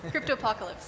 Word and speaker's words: Cryptopocalypse: Cryptopocalypse.